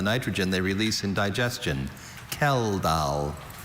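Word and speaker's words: Kjeldahl: Kal. Are there any alternative pronunciations? I have only Kell. Kell.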